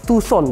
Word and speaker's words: Tucson: Ya, ini ada lineup terbaru dari Hyundai Motors Indonesia, Hyundai Tucson, Tucson, yang benar bacanya adalah Hyundai Tucson sobat setir.